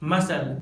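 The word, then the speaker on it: muscle: जब letter S के बाद सी आता है तो लेटर सी साइलेंट होता है, जैसे scene science मसल disciple scenario.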